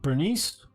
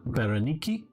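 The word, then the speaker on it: Berenice: the bottom are cineway or um bernice or if you want to pronounce it berenicki uh probably more correct for the record cleopatra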